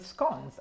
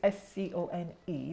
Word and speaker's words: scone: So the next row that you have are the scones, and they're pronounced, even though it's S-C-O-N-E, they're pronounced scones, not scone. Scones. Scone. Scone. No, there's no S at the end, just oh, scone.